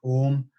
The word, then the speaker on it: Om: the the actual sacred chant of ohm which is actually three syllables are hmm as a way to